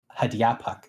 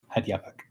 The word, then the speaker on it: Hadyapak: So it's Hadyapak is the name. Hadyapak is, so it's sort of pronounced like this. Hadyapak.